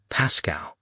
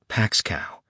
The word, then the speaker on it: Pascow: Rachel corrected her daughter's pronunciation. Pascow, not Paxcow.